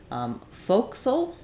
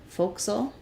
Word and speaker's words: forecastle: four Castle okay so it does have an option here in the dictionary that says folksel foxtel or Forecastle so you could